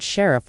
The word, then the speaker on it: sheriff: indicating excitement and Defiance the word sheriff would be pronounced with emphasis on the first syllable and the r sound is pronounced clearly in American English to truly benefit from